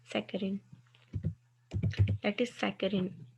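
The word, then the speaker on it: saccharin: उनकी एग्जांपल में आपके पास एक कंपाउंड है सेक्रेचिन, सेकेरिन, सेकेरिन, sorry for wrong pronunciation, सेकेरिन, that is सेकेरिन, जो कि पहले आपको इनिशियली स्वीट लगती है, उन बाद में बाइटर हो जाती है।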